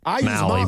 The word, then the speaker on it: Mahle: Yeah, I think it's Mahle, but Mahle. All right. Like rally, pitchers in the alley. You guys are right. What? Great. I told you. Says it rhymes with toddler.